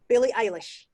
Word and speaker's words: Eilish: But Billie Irish, how do you say her surname? Billie Eilish.